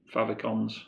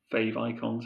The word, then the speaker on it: favicons: And you can create favicons or fave icons, however you prefer to pronounce it.